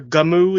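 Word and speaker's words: Gunnm: far as I aware Gamu is the correct pronunciation it's Japanese go with it but also the when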